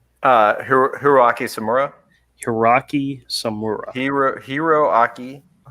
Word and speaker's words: Samura: Hiroaki Samura. Hiroaki Samura. Hiroaki. It's like the spelling is right there. It's Hiroaki Samura. Yes. Like tempura, Andrew.